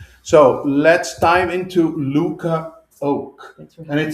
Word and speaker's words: Oake: So let's dive into Luca Oake. Thanks for And having me. it's Oak. It is oak. Yes. So Yes. because how many people say Oaks?